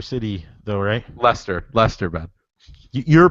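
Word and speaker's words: Leicester: American outlaw Chicago gay they didn't beat my leister city though ray Lester Lester but you're pronouncing it wrong the lifelog fed you know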